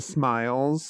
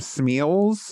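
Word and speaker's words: smial: In the homes, the smiles. Yeah, the smile. Yes, exactly. She pronounced them Smeals, I think. Smeals, I think. Yeah, but it's Smiles.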